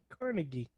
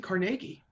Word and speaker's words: Carnegie: Carnegie. I said Carnegie.